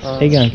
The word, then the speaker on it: Eingang: Eingang, entrance.